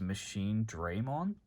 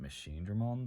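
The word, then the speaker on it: MachineDramon: Digimon World Next Order, in the English dub, they refer to it as Machine Draymon. And I don't know if that's how it's actually pronounced. I'm fairly sure in the anime they pronounced it Machine Dramon, but either way, I'm going to call it Machine Dramon because that sounds better.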